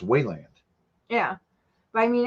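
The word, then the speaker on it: Weiland: So Oh, it's pronounced Wayland.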